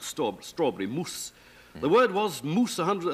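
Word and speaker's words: mūs: o u s e we do know that the Anglo-Saxons pronounce that word moose because of the way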